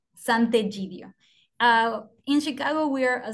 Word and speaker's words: Sant'Egidio: Is a S-A-N-T apostrophe E-G-I-D-I-O, and pronounced Sant'Egidio.